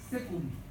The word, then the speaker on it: caecum: foramen ciego o foramen, se escribe caecum, se pronuncia secum, que es lo mismo que ciego.